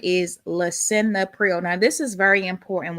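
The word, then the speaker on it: Lisinopril: Uh pronunciation is Lea Prio.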